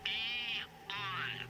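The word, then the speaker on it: AEON: a program is that e on I'm sorry I'm it's pronounced e on E on for E right okay I'm ready oh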